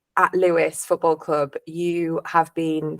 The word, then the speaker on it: Lewis: club very often that you'd be pronouncing it lose so yeah but it is Lewis so we all know